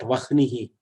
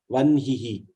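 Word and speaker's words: वह्निः: It is not vahnihi, vanhihi.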